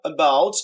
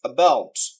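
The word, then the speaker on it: about: এখানে টেবল দুটো সিলেবল রয়েছে আর প্রথম সিলেবলটাকে স্ট্রেস দেয়া হয়েছে টেবল টেবল এরপরে দ্বিতীয় শব্দটা এবাউট এখানে দুটো সিলেবল রয়েছে এখানে দ্বিতীয় সিলেবলটাকে স্ট্রেস দেয়া হয়েছে এবাউট স্ট্রেস এর বৈশিষ্ট্য যখন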